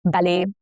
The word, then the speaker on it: ballet: Examples are ballet, buffet, crochet, all have the T's that are silent, okay?